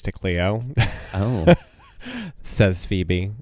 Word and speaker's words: Say's Phoebe: Says Phoebe. Like, okay. I know it's pronounced Say's Phoebe.